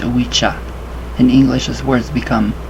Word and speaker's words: Ouija: So it's pronounced Ouija.